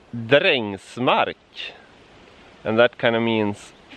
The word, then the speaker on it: Drängsmark: This town is pronounced Drängsmark, and that kind of means farm workers' land.